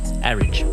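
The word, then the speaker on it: Arig: she says it's pronounced Arridge. Arridge, yeah. And it's very tempting to say Arrig, isn't it?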